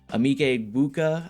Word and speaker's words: Emeka Egbuka: We got Mayfield, Barkley, Kyron Williams, AJ Brown, Marvin Harrison, Breece Hall, Emeka Egbuka, I believe is how you pronounce it.